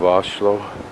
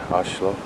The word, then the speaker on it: Oslo: on it another panning view of oshlo as they seem to pronounce it here oshlo and this is still